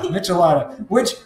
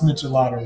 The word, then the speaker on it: Michelada: Just think of it as Miche and Lada. Miche is... Like Nietzsche, and Lada is like the Russian car, Soviet car.